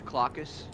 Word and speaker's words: Cloacus: If you want to say his name properly, it's Cloacus.